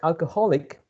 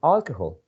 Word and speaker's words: alcohol: an alcoholic the word alcoholic comes from alcohol right so if you pronounce the word alcohol you have to stress the first syllable alcohol alcohol the second